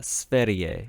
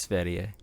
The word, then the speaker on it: Sverige: It's Sverige is how they say it, I believe. Is like the W pronounced like a V? Sweden. No, it's Sverige.